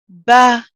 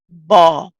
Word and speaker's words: بَ: Ba with a fatha, we pronounce it Ba, Ba, Ba. So the first thing to notice, one, it's a light letter. It sounds very light. Okay, as opposed to if I said Ba, which would be heavy, and that would be incorrect.